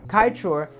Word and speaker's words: Kaieteur: Kaieteur actually means Kai Falls, as the suffix "teur" in Patamona language roughly translates to waterfall. So to call it Kaieteur Falls would actually be repetitive.